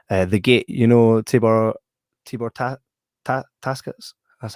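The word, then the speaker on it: Takács: The Gate, you know, Tibor Taskets.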